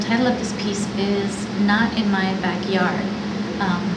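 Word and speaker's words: Gnot: of this piece is not in my backyard um and not is spelled g n o t as a reference to the Gnomes and the garden n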